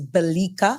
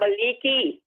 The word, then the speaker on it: Balika: Well, on his behalf, and as just stated, the correct pronunciation is Balika, Balika. I thought it was Balika. And he's asking me to give you his love. Yes. I know I heard Balika. Balika. Not Baliki. It's Balika.